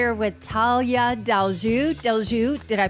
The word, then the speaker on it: Tallia Deljou: Hey, so we are here with Talia Delju Delju. Did I pronounce that right?